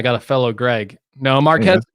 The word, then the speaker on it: Marques: goes yeah I go hey guys its Marquis I'm like marques he goes yeah I'm like oh well you must not know him that well because you don't know how to say his name you must not be